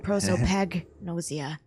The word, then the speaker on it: prosopagnosia: Oh, I said fag, that's wrong. Prosopagnosia. How did you know why Ace wanted to kill Kubota and how Nijisaki was killed?